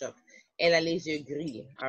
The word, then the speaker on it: gris: It's not, remember, we do not pronounce the S's at the French end of French words. Yes. It would be il a les yeux gris.